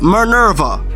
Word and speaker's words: Minerva: Like when Minerva, can I pronounce her name right? It's Minerva.